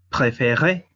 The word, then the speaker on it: préférez: Para el caso de vous, es préférez, porque la sílaba tónica es la E con la Z, pero la Z es muda. Eso hace que la E tenga sonido aunque no está acentuada.